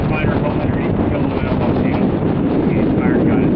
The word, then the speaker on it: Kauai: She did finally find her home underneath the Kouai volcano.